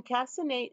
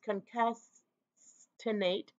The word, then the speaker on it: concatenate: break this down then caseinate means to combine to put together and I tend to pronounce it wrong so my apologies it's concatenate and I always say it wrong so somebody who says